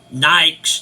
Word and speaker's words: Nike: shoes and I said so what are these Nikes doing over here and they said it's pronounced Nike and I said well it's spelled